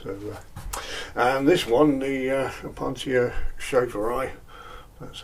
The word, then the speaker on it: Opuntia schaferi: So, and this one, the Opuntia schaferi, that's how you pronounce it.